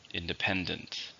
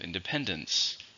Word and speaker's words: independence: I miss my parents so if we have independent we also have independence same meaning but this is an uncountable noun how many syllables independence same for stress on the third syllable independence America achieved independence